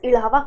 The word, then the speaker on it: Izhava: So Ilava communities, but spelling is Izhava. So but in Malayalam it is pronounced as Ilava community.